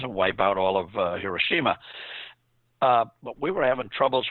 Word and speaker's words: Hiroshima: the atom bomb like Hiroshima it's not Hiroshima that's a new liberal pronunciation Hiroshima to get that